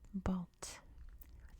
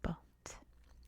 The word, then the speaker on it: Bălți: from, you pronounce it Bălți, like the stress on the T sound at the end. Bălți.